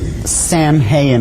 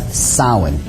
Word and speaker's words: Samhain: as if it's saying Samhain or something like that no no no this is properly pronounced in the ancient Gaelic as sowon sowon according to a